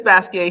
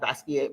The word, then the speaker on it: Basquiat: a form of French you don't pronounce the T you know or the end so a lot of people say basket but is is basquier